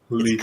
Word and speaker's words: Lethe: It's Leafy. Greek.